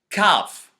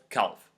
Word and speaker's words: calf: We don't pronounce the L when it comes after O or A and before another consonant like F or K. Like the word talk. We never say talk, we say I talk. You need also to say chalk or calf instead of calf.